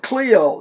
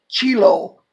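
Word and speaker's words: Chloe: by them which are of the household of Clio not not chilo it's ch but the CH is pronounced que Clio that there are contentions multiple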